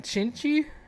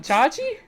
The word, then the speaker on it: Chache: It's Chi-chi. literally like, Chi- it's 6 letters, dude. Just sound it out. Chanchi? There's no N. Where'd you get the N from? Chachi?